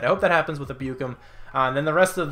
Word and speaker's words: Ebukam: I think that's how you pronounce that, Ebukam. I think I said Ebukam a couple times. I'm pretty sure it's Ebukam. I'm throwing him the middle